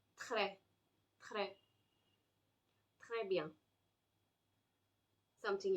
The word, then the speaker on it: très: So if I say, if I had to use this word, which means very, I say très, très, très bien, something like that.